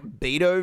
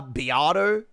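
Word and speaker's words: Beato: Y'all remember that Rick Beo video? Uh, Biato, sorry.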